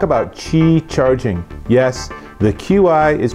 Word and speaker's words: Qi: want to talk about Qi charging yes the Qi is pronounced Qi now you're know and what I